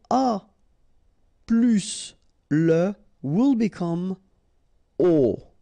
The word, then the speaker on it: aux: Okay, so you can see that here you combine a plus les, and you will get this AUX, okay? And then phonetically you produce it or you pronounce it O.